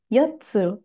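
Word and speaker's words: 四つ: Jangan lupa di sini setelah yo ada tsu kecil ya, Yotsu, 4 buah.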